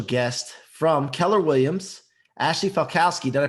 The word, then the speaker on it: Falkowski: with a special guest from keller williams ashley falkowski did i pronounce that right you sure did good job